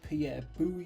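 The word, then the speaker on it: Pierre Boulle: is based on a novel by Pierre boo yeah correct pronunciation first film in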